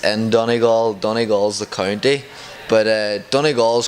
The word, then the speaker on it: Donegal: How do you pronounce the hometown? It's Donegal, Ireland.